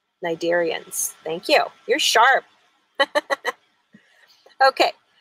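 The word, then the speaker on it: Cnidarians: jellyfish and allies is starts with a C but it's pronounced with an N the first part of the word is n Nigerians thank you you're sharp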